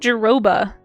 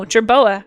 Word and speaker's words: jerboa: And we have a great jerroa. Did I say it right that time? No. Jerboa.